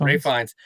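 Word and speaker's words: Ralph Fiennes: Ray Fiennes. So for Ray Fiennes, that he does this complete dance to the Number of the Beast 666 by the good old band Iron Maiden.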